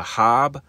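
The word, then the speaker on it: Haab: calendars which function simultaneously the hob the h-a-a-b that's how that's pronounced that word or silver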